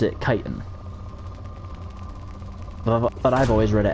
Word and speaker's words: chitin: my biology teacher pronounced professor i should say pronounced it chitin but i've always read it as [ __